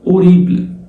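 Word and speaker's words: horrible: او رديئه او وحشه طب اوريب ايبل الاش ما بتتنطق زي ما اتفقنا في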